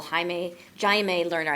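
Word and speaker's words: Jaime Lerner: of C IBA Brazil haime Jim learner I believe is the correct pronunciation if I get my Portuguese right um uh he is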